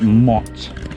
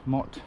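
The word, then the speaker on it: motte: it's often more remote mott not mo promotes what goes around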